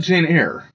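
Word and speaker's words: Jane Eyre: Is it AR or I thought I've always pronounced it Jer Y R E? I pronounced that Janeir. Oh, that's probably correct.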